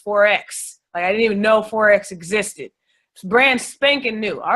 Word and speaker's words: Forex: blanks big-time like they they weren't even pronouncing it right they call it Forks like what is Forks you know they don't